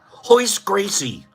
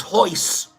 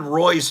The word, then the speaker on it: Royce Gracie: It took me 5 years to figure out his name wasn't Royce. It was Hoist. I feel like all Brazilian because I know how to pronounce his name. Everyone else said Royce, and I'm like, no. It's Hoist.